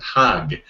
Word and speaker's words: Hajj: know which is the Hajj H ajj it's often transliterated or in Egypt you'd even pronounce it hag it would be ha